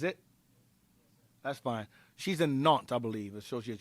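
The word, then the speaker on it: Nantes: She's a knot, I believe, associate. She's a knot. Not not it's it's spelled N- A N N A N T E S. But it's not.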